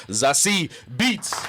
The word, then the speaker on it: Zazie Beetz: Please welcome Zazie Beetz. Wow. Oh, that was beautiful. Thank you. He pronounced the name right? Yeah, he did.